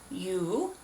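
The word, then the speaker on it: 유: Yoo, Young, Jae. Very good. So the last name, very easy, Yoo. Like you're yelling at him across the room.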